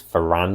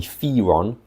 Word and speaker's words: Firan: I thought it was Firan, because it looks like it's Firan. Apparently, officially it might be Firon, but I don't know, I don't like Firon.